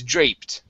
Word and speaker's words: draped: This is draped instead of dropped. It's draped. Draped.